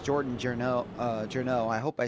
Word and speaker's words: Journeau: It's pronounced Jordan Journeau.